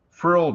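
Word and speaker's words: phryll: The frill generator, it's spelled P-H-R-Y-L-L, it's like a life force.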